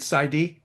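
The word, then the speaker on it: PsyD: You got your BA, master's and SID. Do I pronounce that right? Side.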